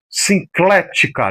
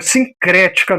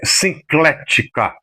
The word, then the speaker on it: Sinclética: Sinclética, não é sincrética não. Só troca o R pelo L.